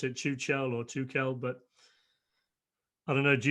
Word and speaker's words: Tuchel: So listen, Thomas, I think coming in, Thomas Tuchel, I think he's a good manager.